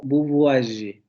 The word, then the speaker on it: vous voyez: La pronunciación es algo así como vous voyez, vous voyez, vous voyez, vous voyez, ye, ye. No ye, como lo diríamos nosotros, sino ye, ye.